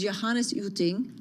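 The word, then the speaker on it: Johannes Jütting: With us is Johannes Uting.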